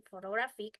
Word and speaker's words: photographic: For instance, in the word photograph, the stress is on the first syllable, but in photographic, the stress shifts, and the first vowel reduced to a schwa sound.